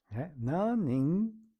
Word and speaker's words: 何人: Vamos ver como que é pronunciado. 何人？三人？ Nanin, sanin.